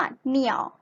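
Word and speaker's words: 鸟: นก ภาษา จีน นะ คะ ออก เสียง ว่า เหนี่ยว เหนียว เหนียว แปล ว่า นก นะ คะ นัก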